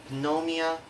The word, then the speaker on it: pneumonia: The letter P, it only has one rule, that is, letter P is not pronounced at the end of the beginning of many words using the combination of PS, PT, and PN.